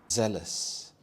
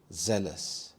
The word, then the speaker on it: zealous: some C2 level adjectives zealous zealous this has two syllables and the stress is on the first syllable zel zealous this means